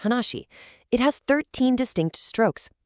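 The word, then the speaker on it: 話: Notice the character for speech or conversation pronounced hanashi.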